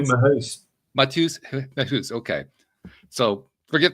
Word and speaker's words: Mehuys: the pronunciation right, Matthieu Mehuys. No, I did it again. I screwed it up. I'm sorry. It's Mehuys. Is that it? Yes, exactly. Matthieu Mehuys.